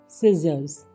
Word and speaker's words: scissors: SCISSORS, सिजर्स, यानी कि कैंची।